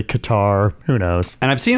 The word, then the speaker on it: Qatar: it's very ambiguous and depending on like where you are in the world it's pronounced differently.